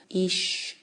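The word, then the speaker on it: אִישׁ: 그리고 이제 남편은 이쉬 이렇게 발음이 되는데 그래서 남편으로부터 나왔기 때문에 아내다라는 그런 이제 그 이름을 그렇게 짓죠.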